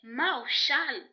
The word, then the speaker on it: Mawshal: dans notre vie alors ma chose prononcée Mao Charles qui est un mot hébreu M a W s